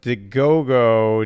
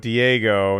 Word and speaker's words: Diego: than miffed oh and called code cold fusions deogo Diego that's true I I take responsibility for that